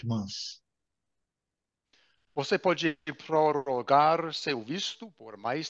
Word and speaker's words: prorrogar: Prorrogar. Prorrogar. Prorrogar. Prorrogar. Como R. Prorrogar. R, né? Garganta. R.